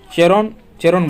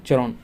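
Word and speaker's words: Charon: किस खगोलीय पिंड का सेरोन, यहाँ देखिए सेरोन नहीं होगा, चेरोन बोलते हैं, चेरोन नाम का एक प्राकृतिक उपग्रह है।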